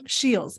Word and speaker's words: Sheils: pronouncing your name correctly it's Shields am I saying your name correctly nailed it yep you got it yes awesome well